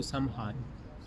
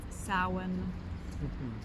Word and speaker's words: Samhain: Not many people know how to pronounce Samhain correctly, and I don't know honestly if I'm saying it 100% correct either, but I think it's pronounced Samhain.